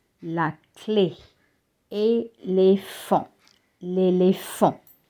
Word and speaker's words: éléphant: Éléphant, l'éléphant. See, in clay and elephant, you have an E with an acute accent and you read it as A.